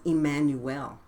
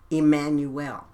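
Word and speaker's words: Jmmanuel: ye must know that my name was Emmanuel, pronounced as an I, as in Emmanuel. It is spelled Jammanuel, and we know that the letter J is pronounced I, okay?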